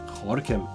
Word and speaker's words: Gorinchem: By the way, if you take a look at a map, you will see that this place is written Gorinchem, but it is pronounced Gorinchem.